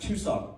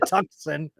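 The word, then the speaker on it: Tucson: four charges oh too soon it's it's actually pronounced too s okay dated a girl that called it tuxen are you serious you know her you know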